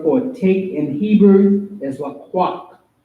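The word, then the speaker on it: לקח: The word for take in Hebrew is laqaq. Laqaq, which is L-A-Q-A-C-H, or la and ah together, the qua and the ah, the ka and the ha. And it's spelled L-A-Q-A-C-H.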